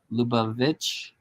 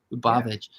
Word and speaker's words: Lubavitch: Agudas Hasidai Chabad of the United States for Congregation Lubavitch. Yeah. Is that how you say that? Well, yeah, Lubavitch. see, I can pronounce words that aren't English. Lubavitch.